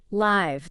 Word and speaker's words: live: Live, that short S sound, like in sit, L-I-V.